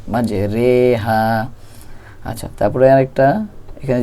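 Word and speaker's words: مجراها: করে এমালা মানে হচ্ছে আমরা জানি যে জের উচ্চারণ অস্বীকারের মত হয় কিন্তু এখানে একারের মত করে পড়তে হবে মাজেরেহা কোরআন শরীফে এক জায়গায় আছে এটা এটা আমাদের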